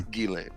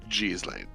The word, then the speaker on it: Ghislaine: This is the Google result says the name Ghislaine has two different pronunciations. The first pronunciation, which is more common in France and Belgium, is Ghislaine. Mm-hmm. The second pronunciation, which is more common in the south of France and in Canada, is Ghislaine.